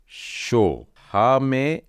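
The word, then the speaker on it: שהם: र शीष तार शश दूसरा शब्द है शिन है और बिंदु ऊपर डला है एक और मतलब यह हो जाएगा शो हा में आ की मात्रा हे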